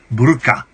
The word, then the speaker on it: burqa: Should Boris Johnson be forced to live in a pillar box for a month after his comments about the burqa? That's how it's pronounced, guys.